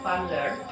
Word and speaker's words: Van Leer: Bacanya Van Leer, yaitu agama Hindu Buddha di Nusantara dikarenakan adanya ketertarikan bangsa Indonesia terhadap sebuah pembelajaran, yaitu dengan mengundang para Brahmana.